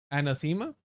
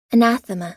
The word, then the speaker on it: anathema: even some of the reformist change which is anthemma.